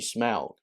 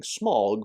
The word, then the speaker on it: Smaug: with what Tolkien intended although Tolkien didn't put a pronunciation guide in The Hobbit he did in the Lord of the Rings and based on that it should be smelled I of course grew up saying Smaug because this movie pronounces it small and there are many